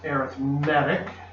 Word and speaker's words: arithmetic: the way it's pronounced arithmetic it's imagine a rhythmic arithmetic sequence or an arithmetic progression